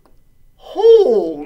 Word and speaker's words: hole: This looks like a tough, oh, but I see a balsa E at the end. So let's sound this out. I think that's going to be a long O saying its name.